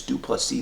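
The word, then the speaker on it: du Plessis: podcast is not Drake's due plus C the S is silent and you know I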